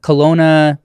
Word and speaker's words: Kelowna: yeah and this uh Kelowna is how you pronounce it Kelowna research facility so